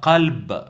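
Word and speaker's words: قلب: Tapi satu lagi jangan tertukar. Qaf, lam, ba. Qalb. Itu hati. Orang kita kan selalu kata apa? Engkau sentiasa di kalbuku. Dia jangan K, dia kena Q. Kalau ejaan alfabet lah, dia kena Q. Dia jangan K. K tu kalb. Kalb tu anjing.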